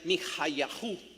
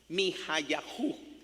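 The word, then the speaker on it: מיכיהו: Y se pronuncia Mihayahu. Mihayahu. En donde el Mija, KH, se pronuncia como una J.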